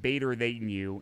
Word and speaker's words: B8R_TH8NU: So it actually is pronounced Bader than you instead of, because I thought 8 was a 3.